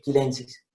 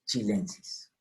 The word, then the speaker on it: chilensis: no es latina, entonces yo durante un tiempo dije quilensis, me estaba equivocando. Entonces es chilensis. Lo mismo con esta, milvago chima.